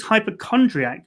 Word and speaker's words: hypochondriac: The first is the CH being pronounced like a K and the C at the end being pronounced like a K.